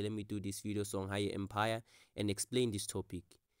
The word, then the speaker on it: Songhai: Many of you, I know that you don't know how to pronounce this word. It's Songhai Empire.